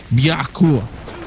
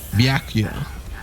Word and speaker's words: Byakuya: Byakua. Byaku. What? Byakuya.